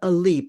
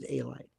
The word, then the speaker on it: Alite: There is a fellow named John Alite, or Elite, but it pronounces Alite.